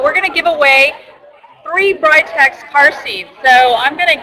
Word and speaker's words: Britax: pronounce it okay well here in the United States we do pronounce it as brightex uh although in Europe they pronounce it as Britex okay okay so it's